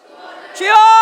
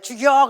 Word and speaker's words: 주여: 주여. 발음을 잘해야 돼. 죽여 그러면 안 돼.